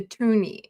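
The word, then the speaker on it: toonie: Now you might be saying like why are we calling it a tuni? And it's very simple. Come on focus. Um it's the $2 coin and we wanted it to rhyme with looney.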